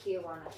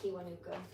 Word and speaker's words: Kiwanuka: I mispronounced his name. Not Kiwanuka. Kiwanuka.